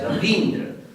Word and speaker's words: Ravindra: Because the moment you have E in Ravi, and then you are adding it with Indra, there is just not any way but to make it Ravindra and pronounce it also as Ravindra. There is no name that should be called Ravindra. It's completely wrong.